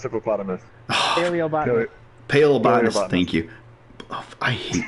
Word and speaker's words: paleobotanist: Plebonist. Pronounced hippopotamus. Paleobotanist.